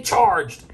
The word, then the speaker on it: CHRGD: silence is family george c h rgd have pronounced as fairly charged is it a is